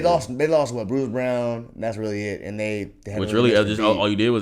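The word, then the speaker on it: Braun: I'm crazy no but is it Brown I know or BR I know cuz way they spell it on b n so it's spelled like Bron pronoun if they're getting your name wrong bro like let them know like get your name right man appar it's brown brown I I wasn't sure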